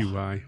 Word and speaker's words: Qi: QI. Yeah, Yep. QI, and pronounced Qi.